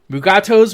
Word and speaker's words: Mugato: canon that all of these different pronunciations of mugato's are perfectly legitimate and we did not need that everything was fine mugato's was the right way to pronounce it i wish mike please damn it